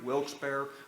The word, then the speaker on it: Wilkes-Barre: but anyhow these guys got together it was funny we were up in wilkes-barre for and there's just so people know pronounced at wilkes-barre wilkes-barre we have a homegrown guy here where's ron